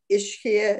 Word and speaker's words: Ischia: So it was kind of interesting for me to walk around, and we went to Ischia. Is that how you pronounce the island?